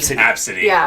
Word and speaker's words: Abcde: Absidy.